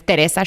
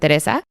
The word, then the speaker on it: Teresa: See, this is how you guys know I don't listen to these questions prior, is because I said Teresa and her name is Teresa. She pronounces it Teresa.